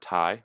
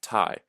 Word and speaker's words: Thai: That should be pronounced like Thae or Thay if you're going to use others, like the way we spell chair and stairs.